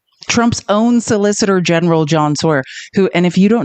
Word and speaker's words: Sauer: Trump's own solicitor general, John Sawyer, who and if you don't know who I mean, I guess I think the more correct pronun pronunciation is Sour.